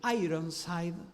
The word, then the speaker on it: Ironside: a encontrar el nombre se escribe ironside ironside se dice en inglés dijo no soy no